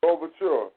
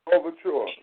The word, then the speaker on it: Louverture: How you say his last name? The brother from Haiti led the revolution. Louverture. Say it again. Louverture.